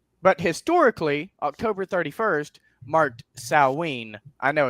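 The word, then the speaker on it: Samhain: So, uh, but historically, October 31st marked Sawene. I know it's s a m h a i n. So, a lot of people, myself included, often pronounce it Sam Hayne, but Celtic is a little bit weird and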